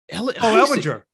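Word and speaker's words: Ehlinger: Not Ellen. Ellinger.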